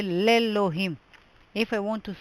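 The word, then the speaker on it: לאלהים: God, I would say lelohim. If I want to say in God, I would say belohim. The aleph is silent in all three words.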